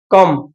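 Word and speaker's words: comb: কি হই মারা বুজ্জল টি ও এমবি কম কম কম ন হইম বিলাই মারা বি ও সাইলেন্ট হইবো তো কম কম মানে ফনি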